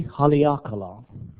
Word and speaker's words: Haleakala: So phonetically, maybe pa, yes. He, okay. Pa, okay, it's ha, li, a, ka, la. E Haleakala.